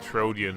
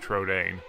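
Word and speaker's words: Trodain: I always call it Trojan, but it's actually pronounced Trodane, which makes sense.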